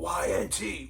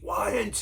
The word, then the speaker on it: Y&T: difference now all right basically the fans at the shows we're going y-n-t whynt instead of saying yesterday today yesterday and today it's too many syllables doesn't sound right ynt all right boom